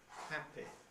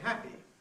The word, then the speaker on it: happy: words of that type however things are changing millions millions of speakers including many speakers whose speeches otherwise receive pronunciation now use a rather closer and tenser Quality quality and say happy very sorry nicely okay with an E which they may well identify with the E of sheep rather than with the